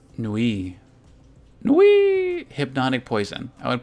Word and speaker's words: Nuit: Nuit is pronounced Nui.